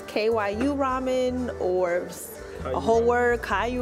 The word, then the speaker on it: Kyuramen: Kyuramen.